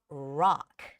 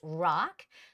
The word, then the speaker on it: rock: play a mix of rock some Koreans might say r or yeah Ro but it's rock and roll right rock and roll rock and roll so it's rock not Jaz but Jazz